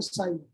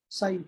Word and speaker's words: psi: साई क्या है, साई ये जो त्रिशूल की तरह बना हुआ है इसका नाम है साई, पी साइलेंट, साई साई इसको बोलते हैं।